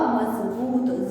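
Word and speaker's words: मज़बूत: और इसका जो उच्चारण हो जाएगा वो होगा मजबूत, ज, जय नहीं ज।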